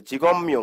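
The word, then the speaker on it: 직업명: ম প্লাস ম হবে, কারণ আমরা জানি একটা রুলস আছে এখানে বাচ্চিমের, এই বিয়োগ বাচ্চিমের পরে যদি মিয়মটা থাকে তাহলে কি হবে? বিয়োগটা ম হয়ে যাবে। বিয়োগটা ম হতে হবে। হ্যাঁ তাহলে জিগম মিয়ং হয়ে গেল উচ্চারণটা।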